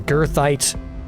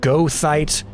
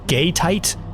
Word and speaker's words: goethite: still argue about this how to officially pronounce Gothite or Girthite. I've seen Gertite. I've seen Gothite. I've seen Gothite. Google even suggests that there are some people that pronounce it gayite. So we're not going to go with that one. But I think we're going to pick what is supposedly the American pronunciation of Gothite.